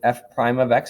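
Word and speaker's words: f′(x): The first one I just wrote there was f prime of x is how we pronounce that. This is pronounced, whoops, what happened there? F prime of x is how we say that first one.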